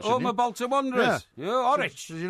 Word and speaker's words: Horwich: So it is indeed pronounced Horwich.